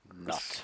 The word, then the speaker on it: Nut: Pretty sure Nut's coming, or Nut is coming soon as well. Who? Nut, Geb's wife. Ooh. Gibbs' wife. Google. She's a sky. N-U-T, Nut. Nut. Pronounced Nut, apparently.